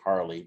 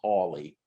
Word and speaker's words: Hawley: representative josh hawley uh i wanted to say harley but it's hawley such a weird way to like spell it um but josh